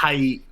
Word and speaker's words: Tait: gave up Abel and I thought it was Tate, but it's Tate. Is that how you say it? It's tight. His name is Tait.